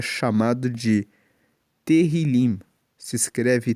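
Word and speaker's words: Tehilim: Tanto que na Bíblia dos original, o livro de Salmos, ele é chamado de terrilim. se escreve t e h i l i m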